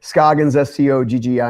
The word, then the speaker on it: Scoggins: so, pronounced by some people. That's right. Scoggins, Scoggins.